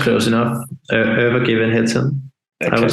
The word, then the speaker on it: Övergivenheten: hear uh and I'm I'm undoubtedly going to mispronounce the name of the album but it's over given Heaton is that correct yeah it's close enough ever given hitson I would say but yeah it's Swedish I'm